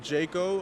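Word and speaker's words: Djaco: yeah uh i'm jayco uh and jayco was spelled d-j-a-c-o the d is silent and if i'm on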